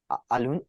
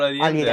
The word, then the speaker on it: Allende: Allende, the guy who Kissinger did the coup against.